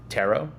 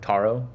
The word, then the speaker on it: Taro: also very excited about tarot or taro i think it's officially pronounced taro um from what i've heard i've been corrected um but i'm very